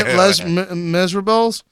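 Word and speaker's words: Les Misérables: pronounce word oh my les miserables Elena is Rob mess Rob okay let's lame is we miss can you it's pronounced labors it's less famous lame is wrong you know I'm cultured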